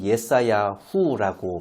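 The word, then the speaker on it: ישעיהו: 이사야서 이사야는 예사야 후라고 발음을 하는데요. 히브리어로.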